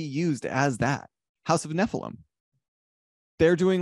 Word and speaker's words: Nephilim: House of Nephilim, they're doing like a reward based, right? And am I saying that? I swear, Nephilim. Yeah, you're saying saying it right. Nephilim.